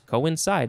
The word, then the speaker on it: coincide: um and it becomes coincide i guess uh there's more the word chance it sounds like go inside go inside co inside i can't think of